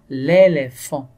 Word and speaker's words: éléphant: L'éléphant. L'éléphant. Donc, on ne voit pas la lettre F, mais on entend le son F.